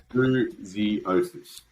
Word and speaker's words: Bouziotis: But it's Bouziotis. It's pretty literal. It's pretty much exactly what it looks like. Yeah, exactly. Like in Greek, it's pronounced slightly different, but we're not speaking Greek, so we're all good.